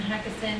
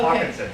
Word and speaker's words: Hawkinson: and then we have Hackison and am I pronouncing? Hawkinson? Yeah, so you were close. Okay. Hawkinson, yes.